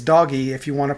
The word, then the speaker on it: DOGE: refuse to call it Doge uh it's doggy because G has a g sound so it's doggy if you want to